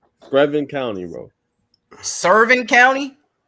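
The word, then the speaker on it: Screven: Screvin County, bro. Scerven County. Screvin. Screvin.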